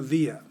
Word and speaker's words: via: quickly and easily via via now i want to remind you that the v always sounds like a w in latin so in this class